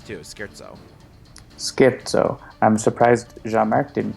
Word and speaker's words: scherzo: And now we know that it's pronounced scherzo. Oh, did someone say that? Well, you can. I typed into my terminal say scherzo, and Alex told me how to say it.